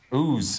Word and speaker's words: Ouse: God, I should know the pronunciation of that. What is that? Ouse.